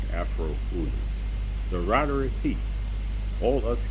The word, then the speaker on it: Afroo OoNoo: And for the benefit of the reading public, the name Afroo OoNoo is pronounced Afroo OoNoo.